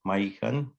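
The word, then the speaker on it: mahihkan: And this is our lovely wolf, and we pronounce it in our language Cree is Maikan.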